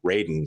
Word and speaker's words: Raiden: at the end riding they keep saying ride Raiden it's how you say his name in combat Raiden like has like